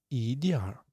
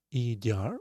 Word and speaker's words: 一点儿: 一点儿 It's pronunciation like 一点儿 or it could be without this R because it's some north dialect. In books you can see 一点 without R 一点 but with R